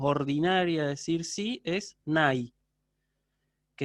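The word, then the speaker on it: ναί: de decir sí es nai, que en griego moderno continúa usándose así. Se pronuncia distinto, se pronuncia ne, pero se usa, ¿sí?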